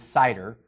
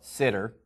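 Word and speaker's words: CIDR: So with the use of classless innerd domain routing or cider or the way I pronounce it is cider. I've heard some people call it sitter. Either way it's fine as long as you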